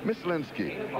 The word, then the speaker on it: Mislinski: name, and he said, everybody's been calling me Mize. He said, but it's Miss. He said, Mislinski.